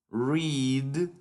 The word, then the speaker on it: read: Lo único que cambia es la pronunciación en el pasado y en el participio pasado.